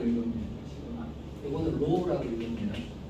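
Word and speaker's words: ρ: 시그마라고 읽습니다. 시그마. 이거는 로우라고 읽습니다.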